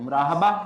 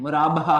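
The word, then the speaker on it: مرابحہ: मुराबहा, मुराबा, अच्छा ये पिछली दफा भी स्पेलिंग गलत है, मुराहबा हो गया था, मुराहबा नहीं है, मुराबहा है, बी पहले है एच बाद में, मुराबहा।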